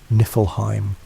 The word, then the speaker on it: Niflheim: To the north of this void lay Niflheim, pronounced Niflheim, the realm of ice and mist.